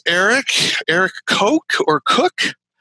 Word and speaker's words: Koch: So it's Eric Koch or Cook. How do you pronounce that? Cook? Koch. Yeah. Koch. Okay. So because different people pronounce it different ways. It's Koch. Yeah.